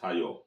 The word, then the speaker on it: thiol: Okay, RSH, pronounced thiol.